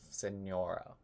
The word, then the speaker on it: Signora: It's pronounced Senora. Oh, like the Spanish, like Senora.